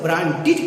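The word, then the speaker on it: branded: आप इसे ब्रांडेड कहिए, क्योंकि इसका प्रोनाउंसिएशन, इसका नियम कहता है कि अगर कोई वर्ड अंत करता हो टी से या अगर कोई वर्ड अंत करता हो डी से, अगर उसमें हम ईडी जोड़ दे तो उसका प्रोनाउंसिएशन एड ना होकर ईड होगा।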